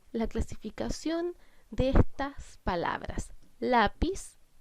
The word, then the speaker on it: lápiz: Lápiz es una palabra grave que lleva tilde porque termina en Z.